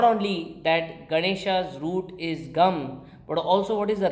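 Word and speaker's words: गं: So instead of saying Ga, Ma, say Gam.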